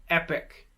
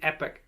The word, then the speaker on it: epoch: from a different epoch the thing to remember with this one is that rp only uses this long e sound when the letter e appears in the first syllable of the word great job we've got